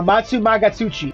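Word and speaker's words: Amatsumagatsuchi: that's so pretty uh matsumagatsuchi is how you say its name by the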